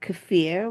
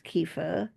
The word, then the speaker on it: kefir: And then we have kafir, which you'll probably pronounce kefir with it. I've just gave up pronouncing it kefir after I was scolded by someone from Afghanistan for my lousy pronunciation of their stuff. So it's actually is kafir but you probably call it kefir and you can make